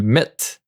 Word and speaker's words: mettent: And here, make sure you don't pronounce the NT. Ils mettent.